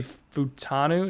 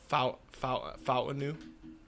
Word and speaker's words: Fautanu: At 14, I have the Saints taking Troy Futanu. Is that how you pronounce it? The Washington O-lineman? I think it's Fautanu.